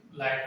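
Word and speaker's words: light: ठीक है, और उसके हाइट, लाइट, ये क्या हो जाएगा, एकदम लाइट, HT, लेकिन लाइट पढ़ते हैं, इसमें GH साइलेंट रहता है।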